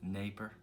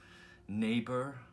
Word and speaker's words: Dnieper: I believe it's pronounced Dnieper. Dnieper River, which flows through Ukraine, Russia, and Belarus.